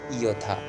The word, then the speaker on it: যথা: আবার যথা, যথাকে আমরা উচ্চারণ করবো কি ইয়থা।